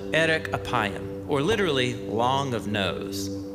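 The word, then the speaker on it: ארך אפים: In Hebrew, the phrase slow to anger is pronounced erek apayim, or literally, long of nose.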